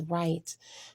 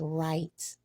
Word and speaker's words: write: does this word is right we don't say w at all for this W so it is silent the word is just right with a W being